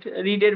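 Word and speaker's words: read: পড়া বই পড়া পড়া রিড রিডের ভিতর রেড রেড কিন্তু বানানটা একই থাকে উচ্চারণটা রেড হবে কিন্তু বানানটা আর এডি থাকবে তাহলে রিড হয়াট কি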